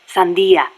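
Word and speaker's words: sandía: call us watermelon sellers because the general's name sounds like the word for watermelon Sandia really see damn it C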